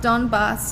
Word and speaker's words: Donbas: was a there was a picture of of donbaths of the the am I pronouncing it correctly yeah perfect the boss the